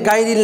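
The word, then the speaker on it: غير: আন'আমতা আলাইহিম গয়রিল মাগদুবি, মাগনা মাগদুবি গয়রিল, তাহলে গায়রিল না কি হবে, গয়রিল মাগদুবি আলাইহিম ওয়ালাদ-দাল্লিন।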